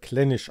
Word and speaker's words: Clynelish: salzgeschmack trocken mit eiche aussprache klinisch steht hier also wenn ich klinisch gesagt habe dann habe ich hier sogar eine korrektur es wird klinisch ausgesprochen ja das jetzt das zweite